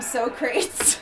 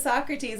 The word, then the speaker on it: Socrates: But yeah, they kept on calling him Socrates because they couldn't pronounce it. Socrates. But it was Socrates.